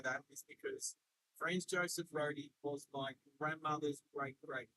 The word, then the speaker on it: Rode: It's spelled RODE, as in like the brand, the audio brand, Roadie. They might call it road, but this is definitely Roadie Road.